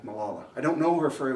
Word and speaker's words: Malala: this person was until Carolyn my wife suggested Malala yui anyone okay if you if you know who she is okay and and can you have better pronunciation for her name Malala Mala that's good Malala okay Pakistani teenager who stood up to the